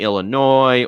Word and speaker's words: Illinois: I got Illinois winning it all, and it's nice. Illinois, not Illinois. The S is silent.